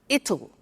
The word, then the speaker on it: it'll: You notice how it will becomes it'll. It'll. Strange pronunciation, yeah?